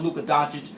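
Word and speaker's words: Luka Dončić: Because on the last show, I wasn't too high on Luka Doncic, so I'm not down on the Atlanta Hawks organization for what they did the way many people are.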